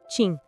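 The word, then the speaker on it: Qin: Quin se pronuncia tim.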